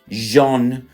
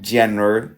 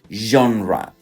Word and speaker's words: genre: This word that I have just pronounced right this one over here the pronunciation is genre ra is not general is genre which is basically genre